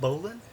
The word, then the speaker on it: bowline: Bowline? That's Is that how you say it? That's how you pronounce it.